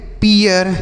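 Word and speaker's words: peer: पढ़ेंगे चीयर P double E आर इसे पढ़ेंगे पीियर क्या पढ़ेंगे मेरे भाई पीियर एम डबल ई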